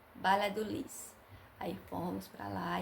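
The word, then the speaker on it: Valladolid: perto, Balha do Lis, que fala Balha do Lis, escreve com V, mas é, pronuncia com B, bala do Lis.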